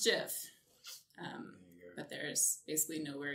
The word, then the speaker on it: GIF: 89 and also like it's pronounced jiff but there's basically no